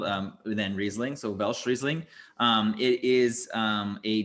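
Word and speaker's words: Welschriesling: um so it's w-e-l-s-c-h i believe that's how it's spelled um then riesling so velcrizzling um it is um a difference uh cross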